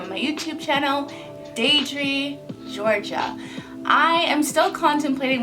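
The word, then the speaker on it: Deidre: about who i am my name is dre daydre it's spelled d-e-i-d-r-e i know a lot of people confuse that with didra and that's not the case that's not how my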